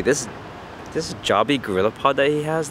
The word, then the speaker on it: Joby: First off, I think it's pronounced Joby, not Joby. Joby sounds a little weird, emphasis on the O in the Joby.